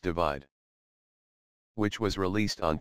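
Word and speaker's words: ÷: cover design of his forthcoming album entitled / pronounced divide which was released on 3 March 2017 .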